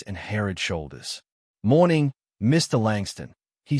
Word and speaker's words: Langston: As boarding time approached, a gate agent called his name, mispronouncing it slightly. "Mr. Langstone."